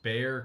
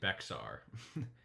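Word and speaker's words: Bexar: Oh, it's pronounced Bear County, not Beexar. It's like bear.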